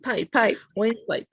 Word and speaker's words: pipe: As if this E is absent. Pipe.